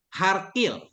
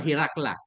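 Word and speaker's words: هرقل: Herakle ini cara bacanya macam-macam. Di sini kan kayak Dimash, Ustaz ya. Herakle, Dimashki. Ada juga yang membaca Harkil, Anna Harkil, Harkila. Tapi yang masyhur Hirakla.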